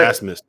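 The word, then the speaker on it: Abmas: Well, I want to hear you pronounce Oral Roberts' best player's last name, because it is spelled. Asmus. What is it? Asmus.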